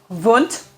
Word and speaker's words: Wundt: founded by wilhelm vunt students often want to say want uh but my best understanding of german pronunciation uh is that it would be vunt and particularly with one